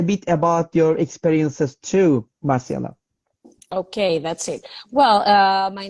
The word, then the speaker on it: Marcela: Okay, so I know about you, Marcela, but by the way, am I pronouncing correctly, Marcela?